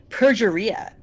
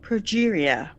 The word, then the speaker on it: progeria: She mispronounces it. She says perjuria. Like, you would think that Tony Scott would stop her and say, it's pronounced progeria.